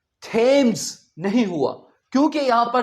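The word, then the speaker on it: Thames: सो इसे हम थेम्स नहीं कहेंगे। क्या कहेंगे? थम्स।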